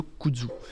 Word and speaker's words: kudzu: Il y a une plante que j'aime beaucoup, c'est le kudzu. Le kudzu, c'est une plante asiatique. Ça s'écrit comment, monsieur le sénateur ?